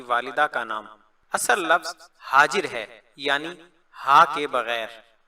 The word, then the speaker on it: حاجر: علیہ السلام کی والدہ کا نام۔ اصل لفظ حاجر ہے یعنی ہا کے بغیر.